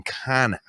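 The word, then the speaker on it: Canha: 6 for 9 on Canna. It's Canna. Because it's like Henry, how to pronounce his name? It's like can of corn.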